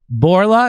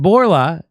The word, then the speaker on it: Bourla: Bourla, is that how you say it? Mm-hmm. Albert Bourla as the CEO of the year.